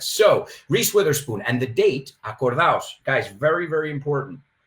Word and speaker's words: Witherspoon: No se dice with her spoon, la pronunciación de su apellido es Witherspoon, right?